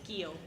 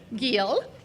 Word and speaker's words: Giel: Giel. Giel.